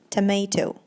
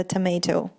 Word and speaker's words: tomato: The next word also is pronounced differently by some people, but there's only one pronunciation, and that is tomato. То есть это вот это вот произношение, которое неправильное, да, это tomato. Все говорят почему-то tomato, наверное, из-за слова potato, чтобы они были похожи.